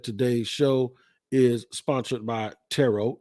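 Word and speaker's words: Turo: guys know that Today's Show is sponsored by tarot it's t-u-r-o but it's pronounced tarot tarot is the world's largest car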